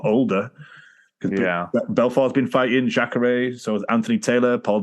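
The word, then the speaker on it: Jacaré: Jacare.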